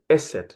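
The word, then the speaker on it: Eszett: So the letter, this letter, which I mentioned here, is called Esset. That's how we read it, Esset, okay?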